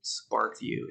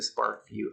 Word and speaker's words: SparkVue: your app store on your phone and download SparkVue. It's a free app. Notice how you spell it, Spark, V-U-E, like that.